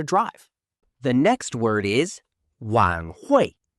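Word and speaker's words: 晚会: The next word is wan hui. Pronounced wan hui.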